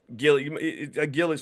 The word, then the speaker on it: Gilly: Gilly's funny. Gilly rhymes with silly because he would wear this big hat like a little kid, and he would dance.